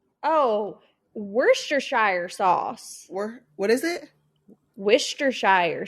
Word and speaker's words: Worcestershire: what other words are on here worst try were Chester Shire oh Worcestershire sauce what is it Worcestershire sauce I've never